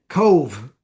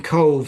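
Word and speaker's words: Cobh: And the answer is Cove. As we say, we pronounce that Cove, Cove, an Oscailga name, but Cove is the port very close to Cork.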